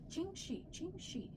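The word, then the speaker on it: Ching Shih: Ching Shi. And she had a bunch of. Let's put a counter every time Kelly pronounces it wrong. I'm gonna pronounce it. It's like it's Ching Shi.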